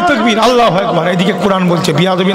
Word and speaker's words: আল্লাহু আকবার: আচ্ছা আল্লাহু আকবার অ্যাকচুয়ালি উচ্চারণটা কি? আল্লাহু আকবার।